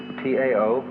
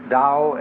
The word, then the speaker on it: Tao: So their principle of nature is called a Tao, T-A-O, pronounced Dao in the Mandarin dialect, Tao in the Shanghai dialect, To in the Cantonese dialect.